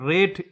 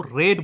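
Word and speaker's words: read: অল day yesterday বলছে গতকাল সারাদিন they had রেড in class about দা সান। তারা পড়েছিল ক্লাসে সূর্য সম্পর্কে। এখানে এটাকে কিন্তু রেড বলব। রিড উচ্চারণ করবো না। কেন? কারণ এটা ভিথ্রিতে রয়েছে। পাস্ট পার্টিসিপল ফর্ম রয়েছে।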